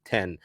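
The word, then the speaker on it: Then: the Penn Murphy move so it is spelled Juan t-h-e-n but it does it is pronounced like the number ten so one ten if you don't know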